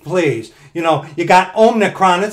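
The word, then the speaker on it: omicron: people out there today with this this ridiculous omnicron thing now man when i first heard about that omnicron thing i i mispronounced it omnitron it's like what they gotta transfer their name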